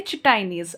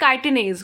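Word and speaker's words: chitinase: हम यहाँ यूज करेंगे चिटाइनेज। ओके बेटा, hope it is clear to यू ऑल, या फिर काइटिनेज, कुछ भी बोल सकते हैं प्रोनाउंसिएशन इसका।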